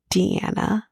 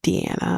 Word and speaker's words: Diana: Australia we have now she pronounced it Deanna but it's it's spelled Diana but it's Deana according to her she's another sto and